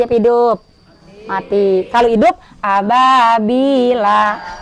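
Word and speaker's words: أبابيل: Kalau hidup ababila. Kagak boleh dibaca ababila kalau berhenti. Harus dibaca ababil. Karena dia hukumnya mad arid lis sukun.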